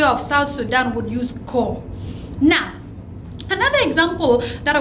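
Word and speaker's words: koo: So, the ko, we spell it as K-O-O, ko, Amiroko.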